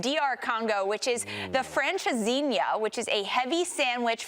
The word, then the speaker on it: Francesinha: Francesinha. Francesinha.